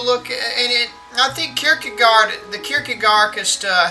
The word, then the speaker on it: Kierkegaard: guy the existentialist yeah isn't that how you say it kierkegaard i i cannot do the accent uh your guard is how you pronounce it say what we're